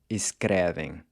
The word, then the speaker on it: escrevem: And the same thing goes for escrever, to write. Escrevo, escreve, and escrevem.